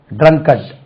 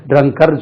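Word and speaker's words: drunkard: என் கே ஆர் டி ட்ரங்கட் ஹி இஸ் எ ட்ரங்கட் அது ட்ரங்கர்னு சொல்லக்கூடாது ட்ரங்கட் ஹி இஸ் எ ட்ரங்கட்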